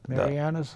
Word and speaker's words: Marianas: Um the um Marian, how do you pronounce Marius? Marianas.